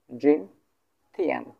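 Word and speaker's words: 今天: সো এটা আমরা এখন উচ্চারণ করবো কেমন করে, জিন জিন ফার্স্ট টোন, জিন থিয়ান, জিন থিয়ান, জিন থিয়ান, জিন থিয়ান মানে হচ্ছে আজ।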